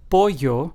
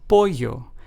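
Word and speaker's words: pollo: in Spanish as in they both have the ye sound found in the English word yellow for instance let's take the words yeno which means full in Spanish is pronounced as yeno then we have the word poo which means chicken in Spanish is pronounced as poo notice how in these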